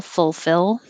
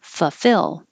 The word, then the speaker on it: fulfill: temporary temporary and fulfill we aren't too careful about the first l full fill that's too difficult so we skip it fufill 19 looks like an